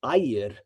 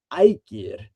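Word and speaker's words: Ægir: So that soft G was already kind of introduced to me at a young age, but it may very well have been Aegir. And we don't know if it's Aegir with a softer G or a kind of a sharper G.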